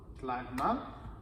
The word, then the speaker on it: clairement: ça et on ajoute clairement le E qui est ici ne se prononce pas clairement ici on prend